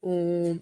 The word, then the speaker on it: ओम: ओम का उच्चारण करें ओम ऐसे बोलते जाए ओम का उच्चारण धीरे-धीरे और नियंत्रित तरीके से करें इस प्रकार प्रकार विभाजित करें ओ ध्वनि को लंबा खींचे और फिर मा का उच्चारण करें पंचवा ध्यान केंद्रित